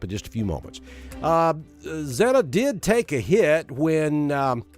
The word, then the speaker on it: Zeta: eventually to the northeast as zeta or zetta tomato tomato uh zetta is the the correct pronunciation as zetta makes um